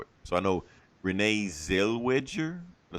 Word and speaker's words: Zellweger: So I know Renee Zellweger.